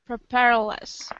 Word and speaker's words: propellerless: Whenever you have less at the end of a word, it's pronounced more like less by the time you get there. Okay. So instead of propellerless, you say propellerless. It just sounds more natural.